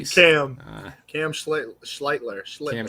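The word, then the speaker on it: Schlittler: Cody Schitler, whatever his name is. You were mentioning I probably butchered that one. Uh he pitched an ace. Cam Cam Schlitler.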